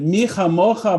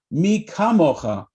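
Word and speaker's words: מי כמוכה: the dot in it, so he could actually pronounce the letter Chaf or Kaf correctly. And then he said it the right way, Mi kamocha ba'elim Adonai, who is like you, God, in all the world.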